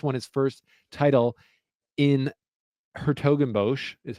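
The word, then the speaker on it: 's-Hertogenbosch: And then my next guy, Gabe Diallo, plus 700, who Gabe Diallo just won his first title in Hertogenbosch, is how you say it.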